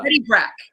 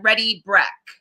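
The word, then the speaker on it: Ready Brek: Ready Breck. It's spelled like BREK, like Ready Breck.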